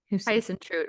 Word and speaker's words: Huisentruit: This is Jodi Huisentruit's story. It sounds German to me. Huisentruit, right?